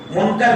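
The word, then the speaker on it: مُنکَر: پہلے اس کو استعمال، اس کا تلفظ صحیح کر لیں۔ لوگ منکر نکیر کہتے ہیں، منکر نکیر نہیں ہے، منکر آپ کے زبر کے ساتھ ہے، منکر نکیر۔ حدیث کی کتابوں میں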